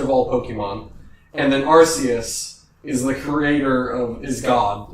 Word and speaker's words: Arceus: I always thought his name was pronounced Arceus, but I guess Arceus.